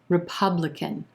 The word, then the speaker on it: republican: government number 15 republican republican four syllables here with our emphasis on the second syllable and the ah as in plum vowel sound republican we've got a very quick schwa that first syllable that r e r republican very quick third and fourth syllable as well that final syllable sounding just like a k sound and in squished up together can can republican republican who's the